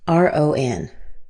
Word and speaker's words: Ron: So, here's our first word, R O N. This is pronounced ron. This a here in my symbols represents the sound a. It's actually the same a like father.